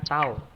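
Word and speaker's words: τ: Ya, ini dibacanya yang hurufnya kayak T ini dibaca tau.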